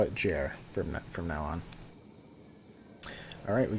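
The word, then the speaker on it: Ger: G-E-R, I'd say, like Jer is in Jerry.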